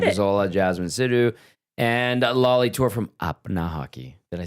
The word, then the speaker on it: Lali Toor: Gazzola, Jasmine Sidhu, and Lali Toor from Apna Hockey.